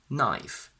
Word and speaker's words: knife: When we have kn, the k is silent. Knife, night, no.